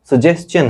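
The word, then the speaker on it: suggestion: फिर मैं देख रहा हूं, आपको दिखा रहा हूं, सजेशन, बच्चे पढ़ते हैं सजेशन, ठीक, सजेशन है ये, करेक्ट प्रोनाउंसिएशन इसका यही है, ठीक।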